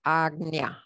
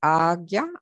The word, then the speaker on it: Ajna: it's pronounced more like agnia with a g sort of hard g sound argya or agnya and it's known as